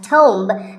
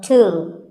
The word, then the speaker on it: tomb: It's often wrongly pronounced as tomb, but the B is silent and the O is pronounced with an oo sound. So, tomb. A tomb is a place,